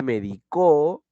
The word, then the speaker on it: medicó: es un verbo pero yo digo medico es decir yo me medico ahora Y él me medicó estoy tomandola en el tiempo